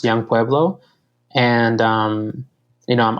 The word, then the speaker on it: Yung Pueblo: places it's um so the name that I write under is Yu ngore pbl o pronounced young poblo and um you know